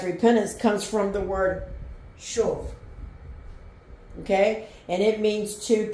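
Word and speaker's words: שוב: The next word is shuv. Shuv. Shuv. Sorry about that. Hold on, my thing, my tripod is broke. Shuv.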